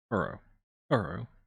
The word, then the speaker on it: horo horo: origin of the word uro uro the japanese way of pronouncing the word hollow referring to the user's